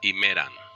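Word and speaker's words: ἡμέρα: Estas dos palabras se van a pronunciar iguales. Himera, himera. ¿Ok? No va a haber ninguna diferencia en el caso nominativo y en el caso dativo en la pronunciación.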